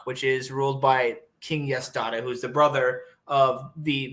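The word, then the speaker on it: Yaṣdaṭa: Yasdata. How do you spell that? Yasdata. Oh, so like Yas data. Yes, data. Interesting. But with like a dot under the S and also a dot under the T.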